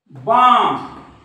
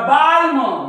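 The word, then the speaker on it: balm: बघू त्याच्या काम राईट बाम बाम त्याच्यानंतर पाम त्याच्यानंतर राईट इकडे बघा कालम कोणी काही म्हणे याला कालम याला बालम याला पालम पण हे कालम नाही हे आहे काम कारण एम च्या वर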